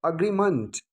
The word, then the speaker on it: agreement: ठीक है, अग्रीमेंट, मेंट नहीं, मंट, मौ के ऊपर में ए का उच्चारण नहीं है, अ का उच्चारण है, तो हम एग्रीमेंट का प्रयोग करते हैं।